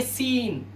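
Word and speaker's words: scene: इसी तरह से एस के बाद ये सी है, इसे पढ़ेंगे सीन मतलब दृश्य।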